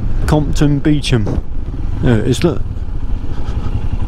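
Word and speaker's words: Compton Beauchamp: But it's pronounced Compton Beecham. There it is, look. Compton Beecham.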